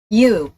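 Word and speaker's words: ewe: কি ঝামেলা পাকাইলাম আবার ইউ ইউ ইউ ইউ okay so ওটা আসলে ইউ ওটার উচ্চারণটা হবে ইউ ওকে এ ইউ একটি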